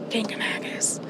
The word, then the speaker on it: Kancamagus: I think we're finally saying it right now that we've listened to the audio tour about it, and every time he said it, I'd say it to myself, Kancamagus. So I think we got it right.